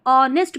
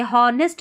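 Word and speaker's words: honest: इसको ऑनेस्ट पढ़ेंगे, हॉनेस्ट नहीं पढ़ना, एच यहाँ पर साइलेंट है। ऑनेस्ट का मतलब है ईमानदार।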